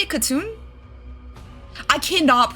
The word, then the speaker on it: Khatun: Yeah, Khatun? Okay, real crap, it's Khatun, okay.